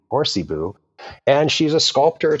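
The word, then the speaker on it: Hoarcebu: You got it's it's spelled funny. It's H O A R C E B U. Horsey Boo.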